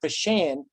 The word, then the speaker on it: Pashan: quite a while that even though Aaron kind of stumbled over the pronunciation, it's Camp Pashan, named after Chip Pashan,